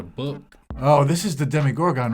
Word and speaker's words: Demogorgon: i want jimmy gorgon because that's how it's pronounced demigorg no no it's a demigorgon it's a gorgon right it's a demi gorgon